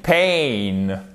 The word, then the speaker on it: pain: Et c'est pas pain, d'accord? C'est pas pain comme le pain. C'est pas le pain non plus. C'est pas pen comme le stylo en anglais, c'est I'm in pain, ok?